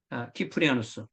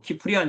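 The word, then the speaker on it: Cyprianus: 바로 테르툴리아누스 그의 후계자인 키프리아누스 그러니까 테르툴리아누스 카르타고의 테리스 키프리아누스 카르타고의 키프리아누스 보 영어로는 우리가 터툴리안 이렇게 하고 뭐 키프리안 이렇게 말하는데 요즘은 원래의 발음대로 불러주는게 국제 표준입니다 그리고 히의 아스 스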